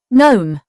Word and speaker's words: gnome: The GN sound usually has a silent G when it appears at the beginning of words. The N is pronounced and the G is not heard. Examples: gnome nor.